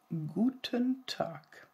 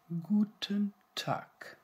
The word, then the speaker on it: guten Tag: is said very often guten tag you can hear it's harder than the English one guten tag good day guten tag and in the morning